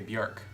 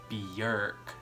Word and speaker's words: Björk: The only reason why I say her name Björk to that bitch over there is because she doesn't understand it when I say Björk. Because her name is actually Björk. She also rolls her tongue when she says her